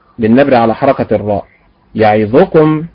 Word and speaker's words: يعظكم: بالنبر على حركة الراء، يعظكم بالنبر على حركة الياء، وهكذا.